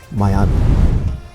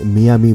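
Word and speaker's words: Miami: নাম নামে প্রতিষ্ঠিত হয় মায়ামি বাংলায় আমরা এটাকে মিয়ামি বলে বেশি পরিচিত হলেও এটার সঠিক উচ্চারণ মায়ামি এটি মার্ক্রিন যুক্তরাষ্ট্রের সবচেয়ে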